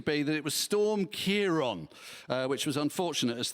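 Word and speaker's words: Ciarán: consensus seemed to be that it was storm Kiron uh which was unfortunate as thousands of Labor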